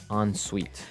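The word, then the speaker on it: en suite: s UI t e so even though it's e n we pronounce it like an o n yep on Suite so an onite bathroom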